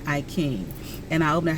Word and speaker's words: I Ching: I thought it said I Ching, Ching, but it's pronounced King, I King.